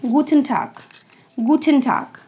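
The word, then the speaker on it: Guten Tag: तो second greeting is माय गूटन टाग।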